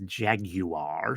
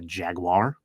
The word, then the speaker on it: Jaguar: It's the car, which is also pronounced in Europe as jaguar. So some people, you'll hear it pronounced that way, jaguar. In America, we pronounce it a jaguar.